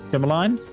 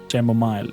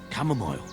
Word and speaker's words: chamomile: Cameline? Chamomile. Chamomile. Chamomile. That's it. Chamomile.